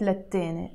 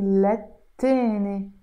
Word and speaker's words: للتاني: basically من وقت للتاني again here you notice I'm pronouncing للتاني I'm not pronouncing للتاني why here again we have the T which is a sun letter and in Arabic we write it للتاني but we pronounce it للتاني من وقت للتاني So,